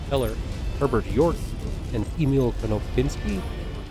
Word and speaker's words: Konopinski: Herbert York, and Emil Konopinski, I think that's how I say his name, spelled K-O-N-O-P-I-N-S-K-I, if you want to look him up.